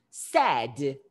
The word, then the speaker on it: said: Ele se escreve Said, mas a pronúncia é assim, ó, no passado. Sad. É a mesma pronúncia quando você fala que você tá triste, cara.